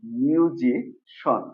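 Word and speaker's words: musician: মিউজিশিয়ান আমরা বলি এটাকে কিন্তু আসলে এটা মিউজিশিয়ান না এটা হলো মিউজিশন ওকে এখানে সিআই এন এটা হয়ে যাবে সন অর্থাৎ তাহলে কি হলো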